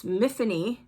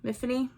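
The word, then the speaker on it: Myfanwy: I think character name it's mhany but it's spelled with a m y f a n Wy so nobody could pronounce it but she goes to Great pains to tell us how to pronounce her name so it's Tiffany with an M mhany Thomas and she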